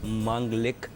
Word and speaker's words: मांगलिक: The right pronunciation is मांगलिक, MANGLIC, मांगलिक। Mars अगर 7th हाउस में हो तो वो पर्सनालिटीज़ मांगलिक कहलाती है।